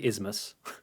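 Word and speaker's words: Isthmus: a fake name but the way it's spelled I always trip over saying it so I'm gonna probably say it wrong but I'm just gonna say ismus there's a th in there but I don't know how the hell you say that I won't argue with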